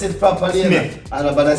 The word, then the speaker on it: Smith: Pronounce it properly. Smith. And about to say Simit.